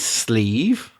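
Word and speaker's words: slieve: should point out that the word sleeve is nothing to do with the arm on your shirt which could be a sleeve s-l-e-v-e this sleeve is spelled s-l-i-e-v-e because it's the irish word for a mountain or amount now there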